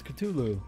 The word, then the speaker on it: Cthulhu: It's Cthulhu. Cthulhu. But it's not actually how you spell it.